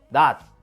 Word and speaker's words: 낫: 다 하고 있어요 디귿으로 지과 치도 마찬가지예요 낫 빛 모두 디귿으로 발음합니다 나즈 비츠로 발음하는 사람은 없어요 이처럼 받침 디귿으로 바뀌는